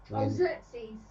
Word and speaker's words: Xerxes: mountain pass against Persia, King, and I can't pronounce that, Xerxes, Leonidas, nonetheless prepares for battle. Xerxes.